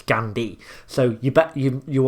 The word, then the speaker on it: Gandhi: and pronounces the hate she's not gandhai is it's gandhi so you bet you